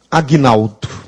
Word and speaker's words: Agnaldo: Será que o meu nome tem um G mudo? Não, porque se o G fosse mudo, eu nem pronunciaria meu nome. Já pensou que horrível? Eu ficaria com G mudo? Tenebroso. Então, Aguinaldo tem um G sonoro sem vogal posterior.